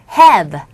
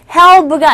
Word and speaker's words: halved: 자, 여기서 H-A-L-V-E-D에서 L 사운드는 묵음입니다. 그래서 have. 우리 보통 조동사 have로 발음하시면 되는데요. help가 아니에요. have입니다. have.